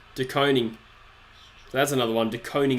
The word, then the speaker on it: DeConing: DeConing is pronounced DeConing, not DeConning.